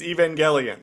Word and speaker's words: Evangelion: Oh, it's not like evangelical. Like that's not how you say it. No, it's Evangelion.